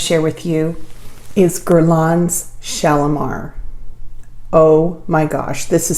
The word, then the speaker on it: Shalimar: in The Gardens of shalomar and you have to say it like that shalomar um there was a